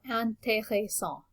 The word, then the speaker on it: intéressant: And notice that when you have an accent on the E that looks like this, it just reminds you that you need to pronounce it as E. So intéressant.